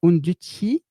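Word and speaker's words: Undici: Côté Node, Node.js, je vous ai mis un petit projet qui s'appelle Unduti. Ça se prononce à l'italienne.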